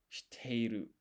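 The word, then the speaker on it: 知っている: So shi teiru. And so we write shi, then we put sokon. So this acts as a pause and place extra emphasis on the T and te. So it's shi teiru.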